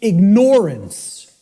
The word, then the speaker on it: ignorance: I tell people, start pronouncing it ignorance. Ignorance. Then people will hear the word ignore in it, and the connotation becomes clear.